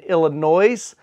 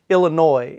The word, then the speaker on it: Illinois: there to Wisconsin and Illinois. Thank you for the person in the comments that pointed out I've been pronouncing it Illinois, and it's actually Illinois. So I'm gonna add the S from now on.